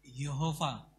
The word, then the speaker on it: Yahweh: Ini dalam bahasa aslinya Yehova atau Yahweh, ya, Yahweh. Sebenarnya pelafalannya lebih tepat Yahweh. Yehova ini bahasa Inggris, saudara ya.